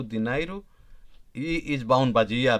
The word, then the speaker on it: dinheiro: Caneta, dinheiro, dinheiro, be careful on its pronunciation.